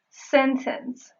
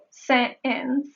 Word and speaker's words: sentence: So that would be sentence. If you paid close attention, you may have noticed that the silent T occurs when the preceding phoneme is N.